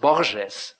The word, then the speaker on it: Borges: obvious insisted in happiness name pronounced Borges by the way the Portuguese way and not the Spanish way because he explained to